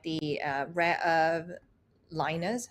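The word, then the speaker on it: Lynas: Australian mining companies like the uh rare earth liners how do you pronounce it leners okay basically uh this company after this deal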